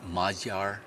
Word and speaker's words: Magyar: you said magar uh how do you pronounce that the business there's no equivalent in English it's majar majar it's close enough cosmetica cosmetica with a